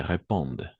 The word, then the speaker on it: répondent: Elles ne répondent. N'oubliez pas, ENT à la fin, on ne prononce jamais.